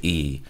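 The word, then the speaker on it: Iyi: I'll spell it for you. Yeah, K-I-L-I-N-D-I. Kalindi, and his last name is E, spelled I-Y-I.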